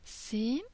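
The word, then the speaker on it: س: except for the dots sinen is a normal s Sheen is pronounced as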